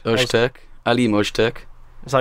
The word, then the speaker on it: Öztürk: Ozturk. Öztürk. Alim Öztürk. Is that how you say It's it? like a soft zzz. It's got the little thing on. Yeah. Zzz. Nice soft zh.